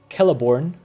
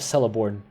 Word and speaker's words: Celeborn: Apparently, the C is always pronounced as K, rather the soft C. So Celeborn is thus pronounced instead of Celeborn.